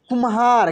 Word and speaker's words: कुम्हार: देखिए तो जो भी ये अक्षर आधा है उसका उच्चारण बहुत तेजी से होता है, ठीक है ना, क्विकली होता है। जैसे कुम्हार, क्या लिखा है?